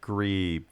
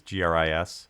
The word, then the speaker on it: Gris: I think it's pronounced Gree, but it's like Gris is Gris.